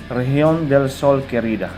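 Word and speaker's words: región: okay adios patria adorada region okay letter g as in goat in spanish is pronounced as h okay it look it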